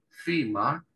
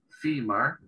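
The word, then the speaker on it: femur: para nosotros en español Sí en inglés se pronuncia fima fima esa s pronuncia como una y larga en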